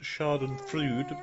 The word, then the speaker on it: Schadenfreude: It's pronounced Schadenfreude, but we like the Froobs.